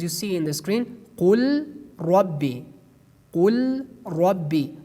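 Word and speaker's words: قُلْ رَبِّي: see in the screen, qul rabbi, qul rabbi. We pronounce it based on idgham, qur rabbi, qur rabbi, qur rabbi. We remove the letter lam.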